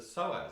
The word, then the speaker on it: psoas: I know how to pronounce this word now. The psoas.